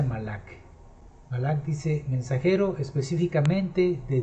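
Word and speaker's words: מלאך: Que en el Strong es el número 4397, que se pronuncia Malak.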